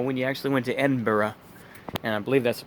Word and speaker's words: Edinburgh: edginess you know when you actually went to edinburgh and i believe that's the proper way to pronounce edinburgh and you know had that one